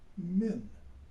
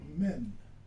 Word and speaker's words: min: And what he did was, in those comments, he made a comment relative to the Arabic word of min. It's spelled M-I-N, colloquial men.